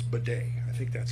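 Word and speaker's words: Bode: the solar system architecture so it abides by bod's law is that what it is yes I think it's bedet I think that's how you say it b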